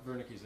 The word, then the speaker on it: Wernicke's: It doesn't have the language areas, as far as we know, the Broca's area and Wernicke's. Is that how you pronounce it? Anyway. Yeah, that's right. Wernicke's area.